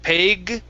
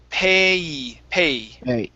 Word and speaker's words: pay: a sound instead of peg pay okay almost end on the vowel pay fake okay so all